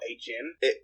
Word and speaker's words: Ajin: Oh, Ajin? Let's pronounce it Ajin, but yeah.